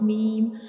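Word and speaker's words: م: When we pronounce meme, our both of lips come together and dry parts touches to each other to pronounce meme, like meme, meme.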